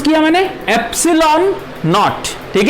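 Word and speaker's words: epsilon naught: अब ये जो टर्म है एप्सिलॉन नॉट, इसको कैसे प्रोनाउंस किया मैंने? एप्सिलॉन नॉट। ठीक है, एप्सिलॉन नॉट इसका प्रोनाउंसिएशन है एप्सिलॉन नॉट, इसका प्रोनाउंसिएशन ये है एप्सिलॉन नॉट।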